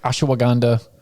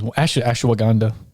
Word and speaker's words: ashwagandha: I add a lot of syllables. Yeah, I do too. I've already added the syllables and I just say it the way I say it. You're like, it doesn't matter. But I reread the word the other day and I was like, well, Andre asked me how to spell it. So I was like, okay, I got the bottle and I was like, I think I'm saying it wrong.